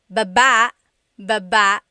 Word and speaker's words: baba: Then there's ba, Baba. Emphasis is on the second syllable.